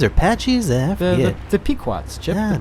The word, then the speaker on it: Pequots: The Pequots, Chip. Ah, the Pequots. I've Pequot. told you Yeah, that yeah, before that's because they rhyme with pecans.